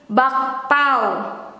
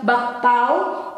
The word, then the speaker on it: bakpao: In Indonesian is bakpao. Bakpao. Sometimes we pronounce this one with U. it becomes bapau, or we don't pronounce the K letter, it becomes silent, bapau, bapau.